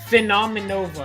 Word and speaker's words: Phenomenova: Phenomenova. It's like Phenomenova. Phenomenova. It's like with Nova.